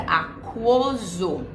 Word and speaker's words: aquoso: então eu falo quando quando eu formo a junção queijo mais a vogal o eu tenho cor como por exemplo na palavra aquoso E aí eu também vou pronunciar a letra U então quanto acuso agora